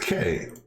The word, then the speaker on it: quay: and unloading ships and let's see here it's pronounced k okay um I may you I'm going to